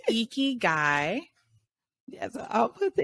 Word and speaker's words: ikigai: I'm going to put I'm going to say it wrong again, because now it's stuck in my head as itchy guy. Icky guy. Our friend Diana calls it icky man, but it's icky guy.